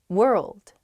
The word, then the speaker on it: world: express myself more clearly world world ah i see why this one's hard world world hard to pronounce that rld i think together is tough plus that w at the beginning as well it's such a short